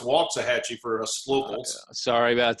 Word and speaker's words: Waxahachie: It's pronounced Waxahachie for us locals. Sorry about that. Okay, well, I got to get it right. Waxahachie, like walking.